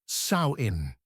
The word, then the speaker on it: Samhain: filled plastic buckets, there was a festival called Samhine. The word is pronounced sain, like the planting of seeds, though it marked not spring, but autumn's end.